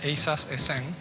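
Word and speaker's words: ASAS-SN: Se llama, en inglés, se llama, lo pronunciamos como asesino, assassin, pero realmente sería EISAS ESEN.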